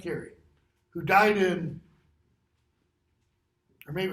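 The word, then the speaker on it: Carew: There was a guy named Edmund Carey, last name spelled C-A-R-E-W, but pronounced Carey, who died in, or maybe it was Henry Carey, who died in like 1630.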